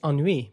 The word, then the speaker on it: ennui: Because in French it's ennui.